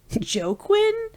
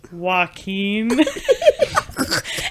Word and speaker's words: Joaquin: And he goes, Joquin? Jaquine? And he's like trying to pronounce it, and we're all just dead silence, just staring at the board. And Demia just raises her hand next to me, and she goes, it's pronounced Joaquin.